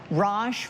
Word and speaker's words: Raj: Raj rhymes with posh, which means classy and stylish.